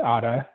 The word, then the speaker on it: Ara: is my daughter um her name is otta spelled a-r-a but we pronounce it otta um she has autism